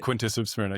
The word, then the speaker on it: Quintus of Smyrna: You have Homer, Virgil, and Quintus of Smyrna. I wonder if I'm pronouncing that correctly. You're right. Quintus of Smyrna.